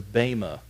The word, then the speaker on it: bema: In its original language, first century Greek, the actual word there is the bema seat. In English, you'd spell it B-E-M-A. Bema seat.